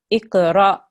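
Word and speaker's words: اقْرَأ: Now, if you have an alif with a sukoon on it, you don't elongate the ra, you have to make a soft jerk there. So, iqra, iqra. Iqra. Good, well done. So you're not elongating, you're joining to the alif. So it's a very soft jerk sound.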